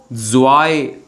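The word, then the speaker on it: zwei: तो टू को बोलेंगे हम लोग जॉय।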